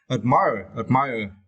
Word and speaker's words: admire: You need to stretch the second syllable of this word admire, as you can see in here, right? The second syllable, my, admire, okay?